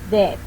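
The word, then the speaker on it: debt: When the B is located before the letter T in the same syllable, it will be silent. For example, doubt, death.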